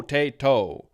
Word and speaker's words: potato: interesting are happening here we change this te to a light D sound so instead of